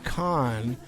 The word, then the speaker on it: Cahan: Or you can Google my name, Khan, and it's spelled C A H A N and it'll pop right up.